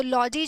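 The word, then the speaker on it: -logy: जब ये खाली बुलाया जाता है तो हम इसकी प्रोनाउंसिएशन होती है लॉजी, लेकिन जब ये किसी वर्ड के साथ जुड़ जाता है तो इसकी प्रोनाउंसिएशन हो जाती है लजी।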